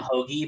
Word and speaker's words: Hoge: out i feel like wait serious is it pronounced host by the way for real is it pointless definitely tom hogey but my friend i call him i like